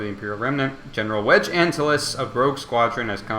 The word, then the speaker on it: Antilles: I am disappointed because I do believe Antilles is the way to pronounce it, even though I grew up wanting and believing it to be Antilles, which I think is a much cooler way of pronouncing it.